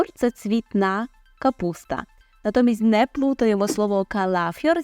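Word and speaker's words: kapusta: Горох - це горошок капуста капуста тут цікаво майже як в українській мові так і лише іншими буквами це записуємо але співпав також і наголос капуста капуста може бути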